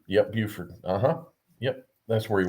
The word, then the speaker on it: Beaufort: He was a they pronounce it Beaufort's in yeah, South Carolina, Buford. Yep, Buford.